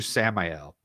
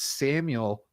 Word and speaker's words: Samiel: you in the chat and I called you samel and I've heard other people do this but then I remember you responded it's Samuel like Daniel yeah um most of the time